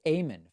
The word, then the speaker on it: Eamon: book Eamon min-ji's says by the way my name is pronounced Ayman phonetically oh I'm sorry Ayman